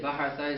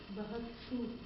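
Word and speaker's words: بحثتُ: You're trying to say bahatha is I to look for, right?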